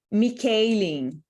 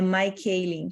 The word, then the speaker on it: Michaeleen: perdida de Educar Daily eu achava que o nome dela se pronunciava mikailen mas não é my keiling como se fosse o feminino de Michael como de costume eu